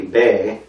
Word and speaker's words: B: Actually, it's spelled B-E, Bay. They say Bay. And it's the same pronunciation as the second letter of the alphabet.